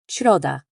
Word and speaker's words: środa: the English in sheep, with your tongue moving up toward the roof of your mouth. Think of it as a whispered, gentle sh. An example would be the Polish word for Wednesday, środa.